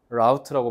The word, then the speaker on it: route: 미국 애들 어떻게 발음하게? 라우트라고 발음해요. 라우트. 그래서 our route 하면 미국 사람인 거야. 루트 하면 영국 사람이에요. 그래서 planned our route and sightseeing stops on those maps.